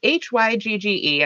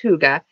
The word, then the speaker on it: Hygge: It's Hygge. I know it probably looks backwards for you guys, unfortunately, but it's pronounced Hygge.